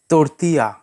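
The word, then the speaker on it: tortilla: রুটি, তর্তিয়া, তর্তিয়া। এখানে এলের pronunciation silent থাকবে।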